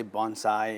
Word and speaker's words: bonsai: well you can say Bonsai it's really you just combine the word bone and Sai so it's bonai Bonsai yep bonai exactly okay um how did you get interested in Bonsai well I've been interested